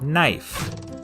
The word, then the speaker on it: knife: A good example of this change is in the word knife. In middle English, it was pronounced knife, but after the vowel shift, the K became silent and the e turned to the dip thong I.